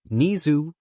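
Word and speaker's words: Nezu: aka the educational hero, Nizu, pronounced the same way as his normal name.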